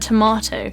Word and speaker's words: tomato: That O is the same diphthong. So by nailing the word tomato, you're incorporating both the long R sound and also this long O sound.